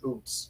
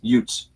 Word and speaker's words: Utes: Do you actually pronounce it Utes or Oots? Utes. Utes?